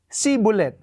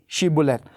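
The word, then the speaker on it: shibboleth: sh buth tapos sasabihin ng mga epr mites si bulet sapagkat Hindi nila ma pronounce yung sh sh sh ang alam lang na ay si si si sibul hindi shib bolet at doon sila mapaparusahan doon sila mahuhuli Alam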